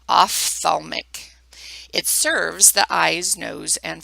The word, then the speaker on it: ophthalmic: first one being the off thalmic and that is pronounced off like pH sounds like an F ophthalmic serves the eyes nose